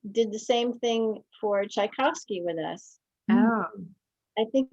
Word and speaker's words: Tchaikovsky: and said and uh tchaikovsky was russian russian music you put the accent on the second beat of the measure as they speak and put the accent on the second syllable of the word oh that's fascinating i